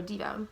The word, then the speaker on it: Deva: This made me think of the Hindu belief in the Deva, or Diva, some people pronounce it.